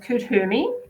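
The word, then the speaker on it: Kuthumi: there we go click the wisdom oh it's pronounced kudhumi kutumi is an ascended master who appears as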